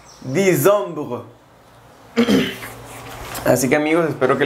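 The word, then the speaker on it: décembre: octubre noviembre es nov nov y diciembre es disom disom así que amigos Espero que les haya gustado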